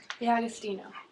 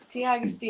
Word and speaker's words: D'Agostino: D'Agostino. Bunny. What? D'Agostino. Bunny. No, she's Bunny. No, D'Agostino. Spell it.